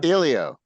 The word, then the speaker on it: Helio: And it's more of an Ilio. E than an A sound, like an Ilio. And then the H is silent, right? Right.